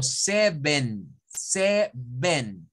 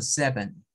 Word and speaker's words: seven: Si nosotros el número 7 lo leemos como en español, vamos a decirlo como seven. Yeah. Y es como darle fuerza, ¿verdad? A las dos. Seven. No, no es así. Porque acá la primera sí suena a una E, pero la segunda suena a un schwa. Entonces, eso se debe pronunciar como seven. Es más suave.